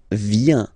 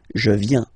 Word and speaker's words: viens: So the first form is je viens, je viens, okay? Remember this I, viens, viens, and then this nasal final S not pronounced. Je viens.